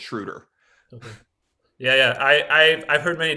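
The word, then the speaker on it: Schröder: I've been saying it wrong the whole time, but I believe we asked him and it's Schroder.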